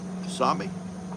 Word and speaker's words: tsunami: I was trying to put that T in there. I don't know why they put a T if they don't want me to say it.